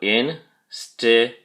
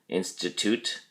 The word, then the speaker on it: institute: Institute has 3 syllables, and the emphasis or stress is on the first syllable, in. So go in-sti-tute. Institute. Be sure you pronounce all of the T sounds in institute, especially the last one at the end.